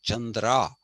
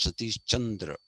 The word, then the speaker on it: Chandra: they speak in Hindi they say sa chra and I tell them I'm saish Chandra not sa Chandra Chandra but they don't